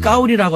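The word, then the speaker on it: 高丽: 시진핑 주석이 만나기 전에 7인자인 장까오리 그 사람의 한자 이름이 우리의 고려시대의 고려랑 같습니다. 발음을 까오리라고 하는데 나는 까오리 고려라는 이름을 갖고 있어.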